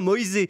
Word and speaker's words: Moise: même sur le prénom puisqu'il le prononce en italien. Moïse devient Moisé donc Moéin ou Moïse Ken.